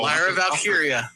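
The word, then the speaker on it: Lyra Valkyria: I'll go Lyra because I actually pronounced her name right for the first time. So Larra Valkyia.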